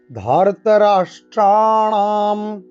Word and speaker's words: ধার্তরাষ্ট্রাণাম: স ঘোষ ধার্তরাষ্ট্রাণাম ধার্তরাষ্ট্রাণাম ধার্তরাষ্ট্রাণাম, ঠিক রাতে ধাতে ট্রা স্ট্রা এসব জায়গায় দীর্ঘস্বর না মূর্ধন্য আমরা কিন্তু টান দেব। ধার্তরাষ্ট্রাণাম, এই রাষ্ট্রাণাম সব কিন্তু মূর্ধাবর্ণ, তাই একেবারে জীবকে উল্টো করে আমরা উচ্চারণ করব।